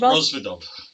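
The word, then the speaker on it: Rozvadov: I can never pronounce it. Rosvedov, is that right? Rosvedov.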